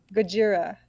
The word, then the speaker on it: Gojira: you keep thinking what gajira which is like how godzilla is pronounced oh gogeta yeah vegeta